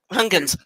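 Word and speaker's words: Huygens: I get that pronounce hungun to Saturn speci it's dutch so it's like deep in the throat okay a mission to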